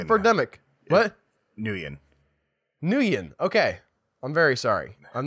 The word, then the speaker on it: Nguyen: It's a Vietnamese name a few of my friends had it growing up, so that's the only reason why I know how to pronounce it. I've seen it a lot. I know it's a famous name, but in my mind, I'm just like, I want to pronounce all the syllables really hard.